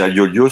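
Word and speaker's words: Aiolos: Attendez, je regarde juste la bonne prononciation, qu'à chaque fois c'est toujours un peu entre les deux. C'est Agiolios, c'est comme c'est des frères, c'est toujours un peu compliqué.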